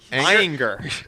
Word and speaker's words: Ayinger: It is Ayinger.